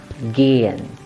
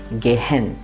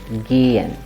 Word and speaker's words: gehen: When you see a vowel followed by a ha, you have to pronounce the vowel long, as in this word. The word is gehen.